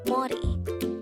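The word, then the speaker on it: 머리: This is pronounced as a two-syllable word. The first syllable is mo, and the second syllable is ri. Pronounce it with me. Mori.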